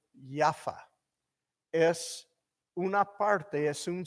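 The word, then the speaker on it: יפו: Tel Aviv, y en hebreo se pronuncia Jaffa, ¿ok?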